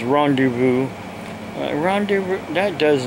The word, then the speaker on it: rendezvous: vo Oh will be pronounced with a Z rendezvous is the actual pronunciation of the word I got the look